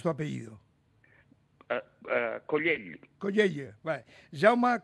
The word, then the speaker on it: Collell: Jaume, que yo me lío con tanta Ille, ¿cómo pronuncias tu apellido? Collell. Vale. Jaume Collell.